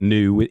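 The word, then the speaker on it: nu metal: You start seeing these new metal, what they were called at the time, as we recall it, new, it's spelled N-U, new metal.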